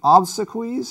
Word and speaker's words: obsequies: poem about Thomas Hardy's of obsequies is how you pronounce it yeah when Hardy died